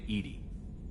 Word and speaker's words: EDI: airlock is a jar why are you named edie edie is the phonetic pronunciation of edi that is an acronym for